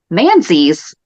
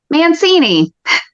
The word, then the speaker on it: Manzi: One, and you're going to have to back me up on this one, I mispronounced Kate Manzi's last name as Mancini.